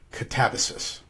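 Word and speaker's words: Katabasis: And they told me it is actually pronounced Catabasis.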